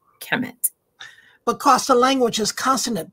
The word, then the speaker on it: Kemet: And the glyphs would actually spell it K, for those of you who don't know, K-M-T. To say it, to articulate it, there has to be some vowel in it.